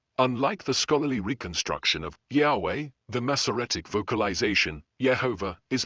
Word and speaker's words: Yahweh: of the name resembling yehovah theories of pronunciation the most widely accepted scholarly theory is that the original pronunciation was closer to Yahweh based on comparative linguistic